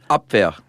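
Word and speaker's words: Abwehr: The um the AB, I think that's how you pronounce it. You're the one who knows German. AB, is that right?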